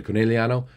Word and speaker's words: Conegliano: Once again, Conegliano not a name that you can say with like an English accent. You have to say it like an Italian.